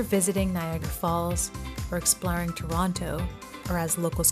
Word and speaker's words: Toronto: Whether you're visiting Niagara Falls or exploring Toronto, or as locals call it, Toronto, we don't pronounce the second T, or trying local food, Ontario has something for everyone.